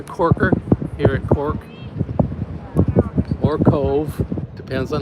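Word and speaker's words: Cobh: Definitely a corker here at Cork or Cove. Depends on how you want to say it. Spelled K O B H pronounced Cove.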